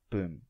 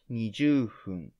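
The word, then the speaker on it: 二十分: let's do our best 20 is niju but 20 minutes is boom not nijoo hoon this is similar to 10 minutes how to pronounce 20 is different and it's print type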